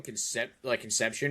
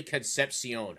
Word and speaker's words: Concepcion: I always call him Conception or Concepcion. It's literally Concepcion. I didn't know that. That's how it's pronounced.